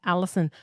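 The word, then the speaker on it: allicin: And this allison and it's not a it sounds like a female's name but it's spelled differently. It's a l i c i n.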